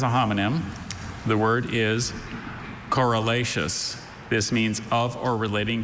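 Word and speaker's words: corylaceous: Are there any alternate pronunciations? No, there's not. There's just coralacious.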